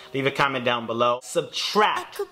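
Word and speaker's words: SBTRKT: Subtract, that's spelled S-B-T-R-K-T.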